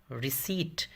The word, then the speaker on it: RECEIPT: सही है RECEIPT, रिसीट, P silent है, रिसीट।